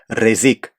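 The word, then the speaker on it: rrezik: アクセントの位置が事称と違っておりまして、本当はレジーク後ろが上がるみたいですね。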